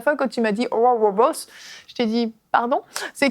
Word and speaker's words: Oral Roberts: Vous avez aimé ma prononciation de Oral Roberts? Oui, Bravo, parfait. bravo, bravo. J'ai pas entendu, peux-tu refaire? Oral Roberts.